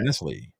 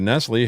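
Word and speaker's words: Knesley: Nestle. I got you. Maybe it's like Nestle. I was going to say the K is silent. Then why even bother? But go ahead. Yeah, like knife.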